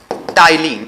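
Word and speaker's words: ptyalin: पहला जो एंजाइम होता है उसको कहा जाता है टाइलिन, इसमें पी साइलेंट होता है।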